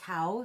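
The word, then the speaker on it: Cao: I believe it's pronounced cow. C A O.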